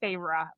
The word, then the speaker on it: Feyre: It took me forever because I thought it was now I see I know it's Feyre, but I did Mhm.